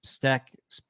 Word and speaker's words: Steck: The Steck spelled like stick, but with an E. So STECK. J Money Steck NFL.